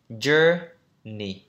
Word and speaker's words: journey: Journey, trọng âm đầu.